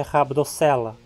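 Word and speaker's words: Rhabdocoela: Próximo exemplo. OE é considerado ditongo. Aparece na penúltima sílaba, então a pronúncia é rabdocela.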